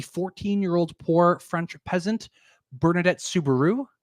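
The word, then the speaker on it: Soubirous: poor French peasant bernardet Subaru like the car uh claimed that our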